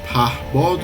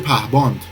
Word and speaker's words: پهباد: اما این آقای به اصطلاح دکتر در مصاحبهش حتی نمیتونه کلمه پهباد رو تلفظ بکنه، میگه پهباند.